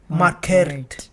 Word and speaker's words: Markert: as Market. Market. No, it's Markert. Markert.